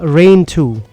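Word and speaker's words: Rhein II: It's called Rain 2. RHEIN. That's how you pronounce Rain it?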